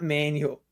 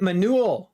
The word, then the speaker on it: Manu: definitely limit them somewhat it's a Latin name not manual oh it is oh dear I butchered the name okay uh okay I Manu man Manu oh is it Manu oh sorry I will